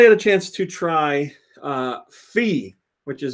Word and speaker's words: Fe: a chance to try fee which is apparently how it's pronounced fee that's from some builders